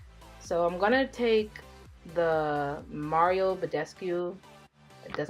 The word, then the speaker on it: Mario Badescu: So I'm gonna take the Mario Badescu, that's how you say his name, facial spray.